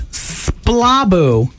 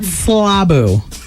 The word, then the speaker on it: splaboo: It's splabu, not slabu. That's even worse. SPLABOO. I like slabu better. I like slabu better too, but I want to call it how Michael calls it, splabu. And no doubt with Michael, accent on the boo, as in jigaboo.